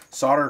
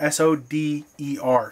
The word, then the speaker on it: solder: the past saying that I'm not pronouncing the word solder correctly well I've always grown up and I've always been told it's called solder Sode our solder you don't actually pronounce the L some of you people in other countries may actually use the l and pronounce the l and say solder wealth in America we say solder so I'm going to